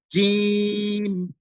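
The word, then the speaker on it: جيم: এটা স্পষ্ট হয় তো আমরা জিম উচ্চারণটা একটু শক্ত উচ্চারণ এজন্য এটা একটু শক্ত করে উচ্চারণ করতে হবে জিম এরপরে আসুন যে অক্ষরটা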